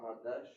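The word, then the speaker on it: חדש: I don't know how to pronounce Chadash. Hadash.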